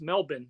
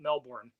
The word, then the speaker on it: Melbourne: First of all, it's Melbourne, not Melbourne.